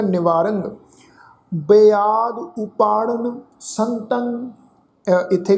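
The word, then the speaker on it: ਨਿਵਾਰੰ: निवारंग, निवारंग रारे उत्ते टिप्पी की मात्रा का नासिक उच्चारण होएगा निवारंग।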